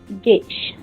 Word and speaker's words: gauge: SWG stand for, jadi kalau tak tahu tu sila take note S for standard wire gauge. Gauge or gauge pronunciation dia. Kita saya sebut gauge.